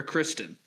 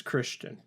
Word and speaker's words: Kristien: His middle name is spelled Kristien. Christian. Is that Christian or Kristen? That's Christian.